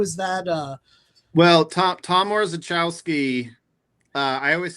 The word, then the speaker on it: Orzechowski: But I noticed, help me pronounce this, Tom Orzechowski. Oh, Tom Orzechowski.